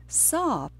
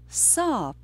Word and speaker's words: sāp: That word is sāp. Sāp. It's a single syllable word. Sāp. And it has the long vowel a in it.